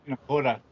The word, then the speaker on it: Nakota: Nakota.